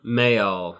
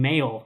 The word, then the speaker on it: Mayall: guy's name wrong John Mayall may all I keep saying mail well like the mailman Bluesbreakers John Mayall with